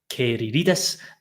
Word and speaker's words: Kyziridis: However, we will, Hearts at 4 o'clock announced the signing of Alexandros, and let me get this pronunciation right. Apparently, it's Alexandros Kyziridis. So Alexandros Kyziridis, even though there's a Z in there, but we'll find out more as we come.